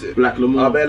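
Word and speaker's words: Blaque L'Amour: Yeah, Black L'Amour. I'm wearing it as well. I didn't know how to pronounce it. Black L'Amour. I bet like Black L'Amour. The black is spelled differently. It's B-L-A-Q-U-E. It's French.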